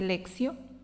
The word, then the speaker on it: Lectio: de la Lectio Divina, se escribe Lectio, se dice Lexio, es una manera de reflexionar y de orar un texto bíblico.